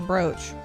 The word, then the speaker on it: brooch: is a decorative pen these words sound exactly the same they rhyme with Coach what I'm BR is